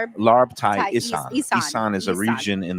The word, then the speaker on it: Isan: Larb Thai Isan.